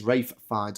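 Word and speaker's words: Ralph Fiennes: fines that's correct MZ it is Rafe fines I know it's written Ralph but he pronounces it Rafe and we have to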